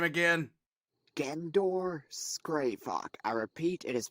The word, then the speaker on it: Gendor Skraivok: how do you say this idiot's name again gandor scravock I repeat it is pronounced again door scravock it's oh scrava okay